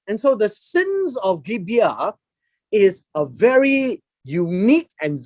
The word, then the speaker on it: Gibeah: It's actually pronounced as Gibeah.